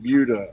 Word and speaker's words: Buda: It looks like Buddha, but they pronounce it Buda or something.